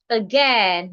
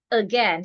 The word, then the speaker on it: again: we have the word again not again again. So in the word again again rather we are stressing again the a and i in g sounds e as in egg.